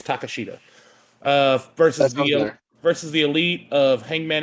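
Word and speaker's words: Takeshita: It's literally spelled take shit a. So I think it's Takashita.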